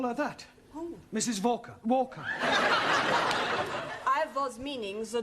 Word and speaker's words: Walker: time to write more all this at Mrs Walker is keeping me busy she is a slave drivers at Mrs Walker Walker what w is pronounced what your employer's name is Walker yeah volca do you know how many shots Mrs Volker